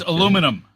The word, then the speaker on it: aluminum: It's not aluminium. It's aluminum. No, it's not. Look, see? Dude, pronounce how it is. No, pronounce how it is spelled. Aluminum. No, that's America.